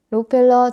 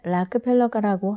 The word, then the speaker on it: Rockefeller: 그럼에도 불구하고 균형감을 가지기 위해서는 록펠러, 원래 발음은 락펠러가라고 한다.